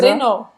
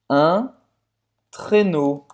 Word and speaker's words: traîneau: Un traîneau. Un traîneau. Un traîneau. Traîneau. Então, não é trenó, é traîneau. Então, esse final aqui, E-A-U, tem um som de O, com acento circunflexo. Un traîneau. Un traîneau.